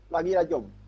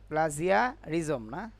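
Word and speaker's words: plagiarism: Just click প্লারিজম, এটা কি রাখছে, প্লাজিরিয়াজম না, প্লাগিয়ারিজম। প্লাজিয়ারিজম না, সেই জিনিসটা আমার প্লাগিয়ারিজম।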